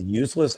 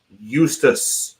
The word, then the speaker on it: Justus: Did you actually say his name was Useless Annunen? Eustace, not useless.